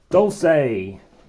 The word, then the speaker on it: Dulce: player bag as well Dolce make sure you pronounce it that way okay well thanks for